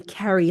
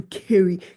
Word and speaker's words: Kerry: So, my name is Kerry K, and I say it like that because so many Americans in particular call me Carrie, like C-A. You carry a bag, that's Carrie. I am not Carrie. I am Kerry, Kerryk.